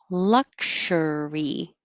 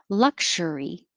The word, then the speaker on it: luxury: more noises luxurious luxurious but 37 is luxury now it's not a it's a voiceless luxury journal and yep it's